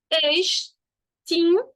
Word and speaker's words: extinguir: Extinguir. Gente, eu não tenho ditongo. Mesmo o U e o I ficando juntos em guir, o U é mudo.